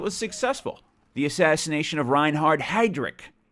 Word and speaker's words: Reinhard Heydrich: The assassination of Reinhard Heydrich, I believe, is how you pronounce that.